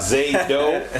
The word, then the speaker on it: Zaydo: Zaydo, right? That's how you say it. Zaydo. You gotta say it fast. Oh, you gotta say Zaydo, like Zorro.